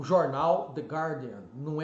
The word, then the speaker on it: Guardian: Unidos é um dos maiores do mundo de gárdian Ok the guardian tá aí é o jornal de Garden não é the guardian então eu vejo até mesmo repórteres YouTubers falando